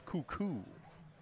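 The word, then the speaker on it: Kukuk: about Andrew cuckoo's name you spell it k-u-k-u-k looks like KU kuk it is cuckoo second down and seven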